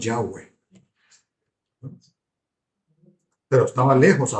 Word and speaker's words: Yahweh: Lo que sabían era que Dios se llamaba YHWh, así como Yahweeh. Por por pronunciarlo decimos Yahweh, pero estaba lejos a 2 millas, a 3 pun 2 km de distancia de ellos.